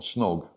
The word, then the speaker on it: snog: at the party and snog pronounciation it rhymes with dog dog snog snog dog so pronounced in the same similar way and your next romantic